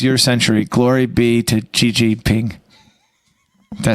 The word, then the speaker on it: Xi Jinping: Glory be to Xi Jinping.